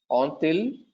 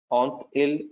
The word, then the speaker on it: ont-ils: So, ai, as-tu, avons-nous, avez-vous, ont-ils, on tel. Now, if you closely observe here for the last one, ont il and ont el, I am actually pronouncing the T here.